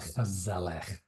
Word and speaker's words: gezellig: Yeah, here in the Netherlands, there is a word called gezellig, right? And right, the G's are G's, right? They're really rough, right? Gezellig.